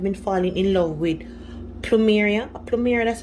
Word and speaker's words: plumeria: Now, if you love pineapple, for me, I've been falling in love with plumeria, that's how you pronounce it, that right there, plumeria, especially in perfume.